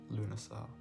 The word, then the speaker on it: Lughnasadh: language uh that's just how it's spelled it's pronounced lunasar so the article reads as such these are